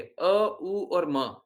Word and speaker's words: ओम: जब उच्चारण करते हैं तो इसी तरीके से करना भी चाहिए अ उ और म अ मतलब कृष्णा उ